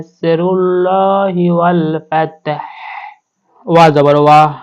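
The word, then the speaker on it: وَالْفَتْحُ: করতে হবে ওয়াল ফাত একেবারে শেষে গিয়ে আমাদেরকে হাটা উচ্চারণ করতে হবে ওয়াল ফাতাহ ওয়া জবর ওয়া র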